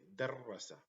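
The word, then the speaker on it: دَرَّسَ: So here we pronounce darasa, and in this one we say darrasa, darrasa, darrasa.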